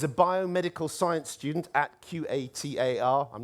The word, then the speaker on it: Qatar: Next, we go from catalysis to Qatar, or possibly more correctly, Qatar, or even gutter. They're all ways I've heard Qatar pronounced. And apparently the problem is there's a key Arabic letter that doesn't have a direct correspondent in Britain.